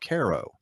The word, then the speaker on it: Cairo: here in West Virginia spelled Cairo just like Cairo Egypt well the local people call it Caro well let's say what